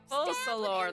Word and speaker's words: Focalor: So long as I, the Archon Focalor, Focalor, that's how you pronounce that.